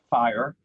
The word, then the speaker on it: FHIR: here to talk about fire f-h-i-r it's it's spelled funny but it sounds like fire and uh when you